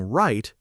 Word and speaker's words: write: Pronouncing write exactly like right.